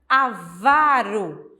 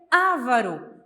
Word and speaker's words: avaro: palavra é a palavra avaro que é uma palavra paroxítona e geralmente nos pronunciamos como se ela fosse proparoxítona e aqui eu tenho